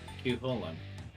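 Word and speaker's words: Cú Chulainn: Cuchulainn.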